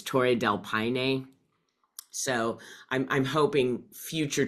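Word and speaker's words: Torres del Paine: didn't say that properly I was calling it Torres delpan and it's Tor Del Pine so I'm I'm hoping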